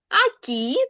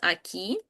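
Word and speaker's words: aquí: Акі. Так, тут у нас, бачите, наголос на останній склад. Акі.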